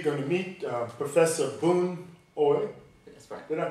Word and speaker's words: Boon Ooi: we are today going to meet uh professor boone oi did i pronounce that correctly yeah that's correct and uh